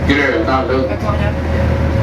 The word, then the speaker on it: Gröna Lund: O with 2 dots is pronounced Ö.